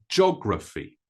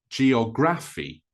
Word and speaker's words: geography: one is geography geography the pronunciation makes it more like three syllables than four syllables geography not geography Now American English sometimes